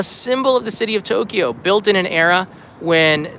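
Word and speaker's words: 東京: It's a symbol of the city of Tokyo, built in an era when the name Edo changed to the name that we know today, Tokyo.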